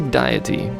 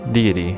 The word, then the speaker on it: deity: guardian diety or deity I always say diety but I think it's it's deity I've always been pronouncing it wrong I'm pretty sure of